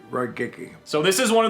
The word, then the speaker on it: Raigeki: It's pronounced Raigeki. Raigeki.